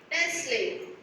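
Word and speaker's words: Nestlé: brand name Let's Play t is silent yes what is the brand name Nestle very good so what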